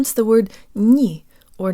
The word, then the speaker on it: не: Jaw slightly forward, tip of the tongue behind the bottom teeth, lips rounded and protruded. Ni. Ni. Ni. If yours sounds more like ni, you need to work more on shifting the position of your jaw, tongue, and lips.